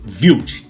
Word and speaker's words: Wild: esperava e com ele confirmou a descendência dele alemã portanto o correto é thiago viu e é justamente quando